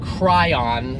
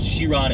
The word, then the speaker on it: Chiron: four sided I yeah but its sheer on its French and then uh it's